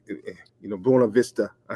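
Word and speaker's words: Buena Vista: times, you start to see like, you know, Bua Vista.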